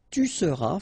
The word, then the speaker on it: tu seras: Je serai, tu seras, final S not pronounced, il sera, elle sera,